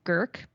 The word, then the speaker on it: Grk: My favorite is called Gurk, Grk. And it sounds like a Klingon drink or something like that.